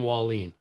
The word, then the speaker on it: Wahlin: totally different uh yeah you think of a wall leaning and you got it walleen is that is that